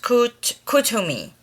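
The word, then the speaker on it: Kuthumi: Pronounced Kutumi.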